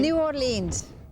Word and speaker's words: New Orleans: New Orleans.